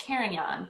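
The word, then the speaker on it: Carignan: to call this pronounce this kind of one karaganon um because uh so it's pronounced cairnion but um these oh that's probably coming through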